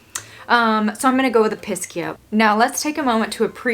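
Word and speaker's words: Episcia: So I've heard people pronounce it Episkia or Episkia. I've more commonly heard Episkia. I think it depends on where you live, how you pronounce plant names.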